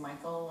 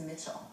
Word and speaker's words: Michel: would pronounce that is michael or michelle right he pronounced it as mitchell so it was just